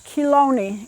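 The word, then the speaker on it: Chelone: the name of it the official name is kilo knee and it's spelled with the C and each little blossom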